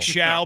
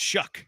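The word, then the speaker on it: Shough: like Shao, pronounced Shuck.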